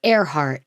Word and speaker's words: Earhart: It's spelled like earhart, but it's airhe heart.